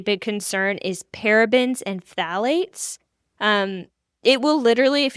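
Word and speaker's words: phthalate: literally says paraben and it literally says phalate. That is P H T H A L A T E. Phalate. Hard to say, but fun to say once you learn how to say it.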